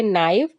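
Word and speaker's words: knife: मतलब होता है हथेली यहां पर के वर्ड साइलेंट हो जाएगा एन आई एफ ई इसे हम पढ़ेंगे नाइव का मतलब होता है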